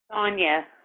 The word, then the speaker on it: Sonia: So how do you say Sonia or Sonia? Sonia. Sonia. I have a friend who spells it the same way, but she pronounces it Sonia.